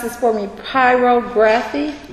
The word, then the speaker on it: pyrography: Can you pronounce this for me? Pyrography? Pyrography.